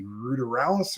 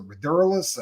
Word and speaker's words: ruderalis: You got indica, you got sativa, and you got one that they call, some people say ruderalis or ruderalis. I mean, you hear it pronounced differently.